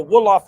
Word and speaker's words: Wolof: So when you understand what the word hip come from, or hip hop come from, it's a Wolof language in West Africa, for the record.